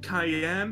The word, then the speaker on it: Cayenne: Cayenne pronounced like the pepper.